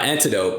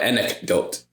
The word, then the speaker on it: anecdote: anecdote and anecdote yeah not antidote but anik don't hey google how do